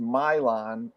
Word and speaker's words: Milan: still see that right it's pronounced Mylon um okay and yeah